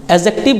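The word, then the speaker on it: adjective: मतलब होता है विशेषण एडजेक्टिव नहीं बोलना है एडजेक्टिव बोलना है क्योंकि यह और जे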